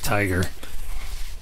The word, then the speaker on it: TIGAR: TI g a r it's not not like the animal it's tigar but it's pronounced Tiger Tiger Health Technologies and